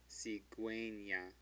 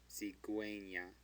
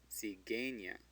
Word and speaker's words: cigüeña: Cigüeña. Cigüeña. If it weren't for that umlaut, it would say cigueña. But that's not what we want to say. We want to say gue. Cigüeña.